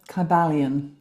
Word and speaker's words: Kybalion: I've got the Kybalion. Is it Is that how you pronounce it?